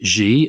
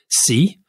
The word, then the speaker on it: Xi: say Xi Jinping, but I shouldn't say Xi. I should say Xi. François Hollande told me that. He told me I mispronounced it. He said it's Xi. He's Xi. Xi Jinping. Xi Jinping. Yep. So it goes up, down, up.